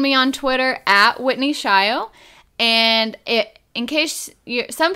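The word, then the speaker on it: Shayo: you can find me on Twitter at Whitney shy oh and it in case some people don't know how our last name is spelled it is sh ayo but we pronounce it shy oh so that might make it a little bit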